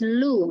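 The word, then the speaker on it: 路: the the road so the road in Chinese is pronounced as Lou right so and Lou okay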